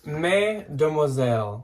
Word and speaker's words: Mademoiselle: So it's Mademoiselle, like Mademoiselle, like the French saying, which means chopped it like up a Mrs.